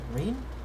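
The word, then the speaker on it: Ryne: I actually quite like Reen. I keep wanting to say Ryan because of her name's the way her name is spelled.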